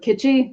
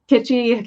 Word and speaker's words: Kitschy: There can be an easy misspelling here with Kitschy because you don't really pronounce the S in Kit.